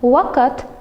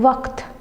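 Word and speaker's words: वक़्त: In waqt there are two syllables, wa and kat, but waqt has one syllable.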